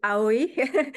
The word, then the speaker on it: Aoi: invitation I am AI my last name is pronounced that way and I'm professor at